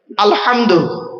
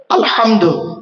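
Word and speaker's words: الحمد: আলহামদু, এই গলার ভেতর থেকে এটা উচ্চারণ করবেন, আলহামদু, আলহামদু নয়, আলহামদু।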